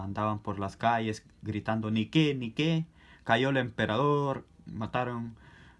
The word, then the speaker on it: Nike: No se dice Nike, no se dice Nike, se dice Nike.